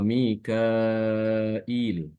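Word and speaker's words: ميكائيل: bacaan Ibnu Katsir ya dia dengan menambahkan huruf hamzah setelah huruf Kaf ya Jadi nanti ee safnya itu dia ditambahkan Alif setelahnya ada huruf hamzah setelahnya lagi ada huruf Ya Sukun jadi bacanya wa Mikail ya Wa Mikail Mikail jadi di situ ada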